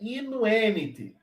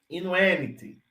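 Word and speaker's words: invenit: Aqui nós temos essa vogal aqui longa. A penúltima sílaba tem uma vogal longa. É longa. Então, o acento é paroxítono. Se ela for breve, atenção, aí é proparoxítono, é inuenit.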